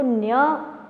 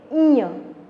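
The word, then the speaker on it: ञ: Okay, just as च, छ, ज, ज, इसको कहते हैं ईय। ओके, ईय। कहीं पे कुछ संस्कृत के विद्वान ऐसा भी बोलते हैं कि इसको न्य प्रोनाउंसिएशन करते हैं, पर कुछ भी वॉट एवर इट इज़, ईय भी बोलते हैं और न्य भी बोलते हैं, तो इसको हम प्रोनाउंस करेंगे ईय।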